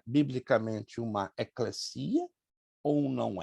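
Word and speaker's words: ekklesia: Vem do termo grego eclesia. Eclesia se escreve dois Ks, L-E-S-I, acento agudo no I, A. Eclesia, é uma palavra grega, que quer dizer chamados para fora.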